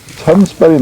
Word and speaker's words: Tønsberg: Harald and his army were at that time stationed in the Tunsberg, pronounced Tunsberg nowadays.